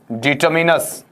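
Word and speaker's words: determiners: क्या पढ़ेंगे आपका डिटरमिनर्स डिटरमिनर्स यहां जरूर ध्यान दीजिएगा इसका उच्चारण है वह डिटर माइनस नहीं होता है बल्कि क्या होगा आपका डिटरमिन होगा और डिटरमिनर्स है इसका हिंदी अर्थ आप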